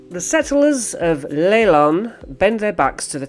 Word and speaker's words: Leilon: This is pronounced Leylon.